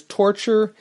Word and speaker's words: Torcher: There's a demon who ends up becoming a part of the cast, whose name is Torture, and that's Torcher. That's how that's spelled.